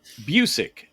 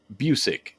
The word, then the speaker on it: Busiek: Kurt uh uh busy I believe you pronounce that duggery or whatever the hell you were saying I'm like no thanks dougery Scott uh Busick Kurt Busick is how you say it Kurt Busick on uh